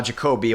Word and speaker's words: Jacobe: switch all right so it's uh jacobe like Kobe Bryant there and yeah so let's